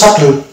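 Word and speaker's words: subtle: তো যাই হোক, এর উচ্চারণ হলো সাটল। এটা যদি অ্যাকচুয়ালি উচ্চারণ করা হয় তাহলে সাটল সাটল, এখানে বি সাইলেন্ট থাকছে।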